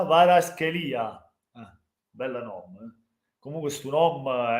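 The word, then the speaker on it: Kvaratskhelia: Ciao Bubu, Bubu si pronuncia Varaschelia.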